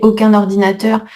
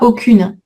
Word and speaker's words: aucun ordinateur: L'année où j'ai commencé, il n'y avait aucun ordinateur. Faites attention ici la prononciation. Donc la liaison, elle est obligatoire mais on dit pas aucune. On garde la nasale avec la liaison.